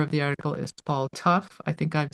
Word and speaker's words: Tough: The writer of the article is Paul Tough. I think I've said that correctly. It's spelled t o u g h.